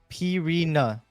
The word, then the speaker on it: Pina: go about it right Pina Pina that's how you say it Pina I ain't G lie that sounds so wrong I'm not going to